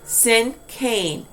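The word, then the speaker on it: cinquain: okay now sinking yes let's all pronounce that sin cain c-i-n-q-u-a-i-n and the first part of that word comes from a french word namely sun sunk i always have to go and do my little french practice here okay so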